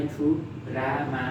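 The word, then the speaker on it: 드라마: अगाडि थु रा मा भयो। के भयो त? थुरामा।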